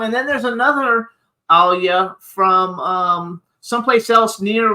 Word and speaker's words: Alya: me how do I is it Alia yes you did it perfectly you're one of the few people that actually pronounced my name perfectly from the first try so congratulations and